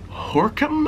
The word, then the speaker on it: Gorinchem: tour or go to is it horam I think so it's like starts with a g and it's not how you say it yeah I want